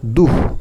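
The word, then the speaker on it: দুঃ: এর উচ্চারণটা কেমন হয়? দুহ। বিসর্গ থাকলে এর উচ্চারণটা এইরকম টাইপের হয়।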